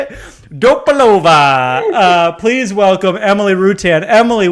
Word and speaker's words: Dopolavoro: Dopalova. Please welcome Emily Rutan. Emily, welcome. Thank you so much for coming. Hello, I'm just laughing at the pronunciation of Dopolavoro. Yes, that's how you say it. Dopolavoro.